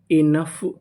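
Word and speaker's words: enough: meaning को पढ़ते हैं यूजी एच फ इ एन इन और यहां पे ओ हमारा साइलेंट है पूरी मीनिंग क्या बनी इनफ इनफ इनफ का मतलब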